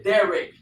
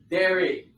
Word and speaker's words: derek: That word is Derek. Derek. D-E-R-E-K.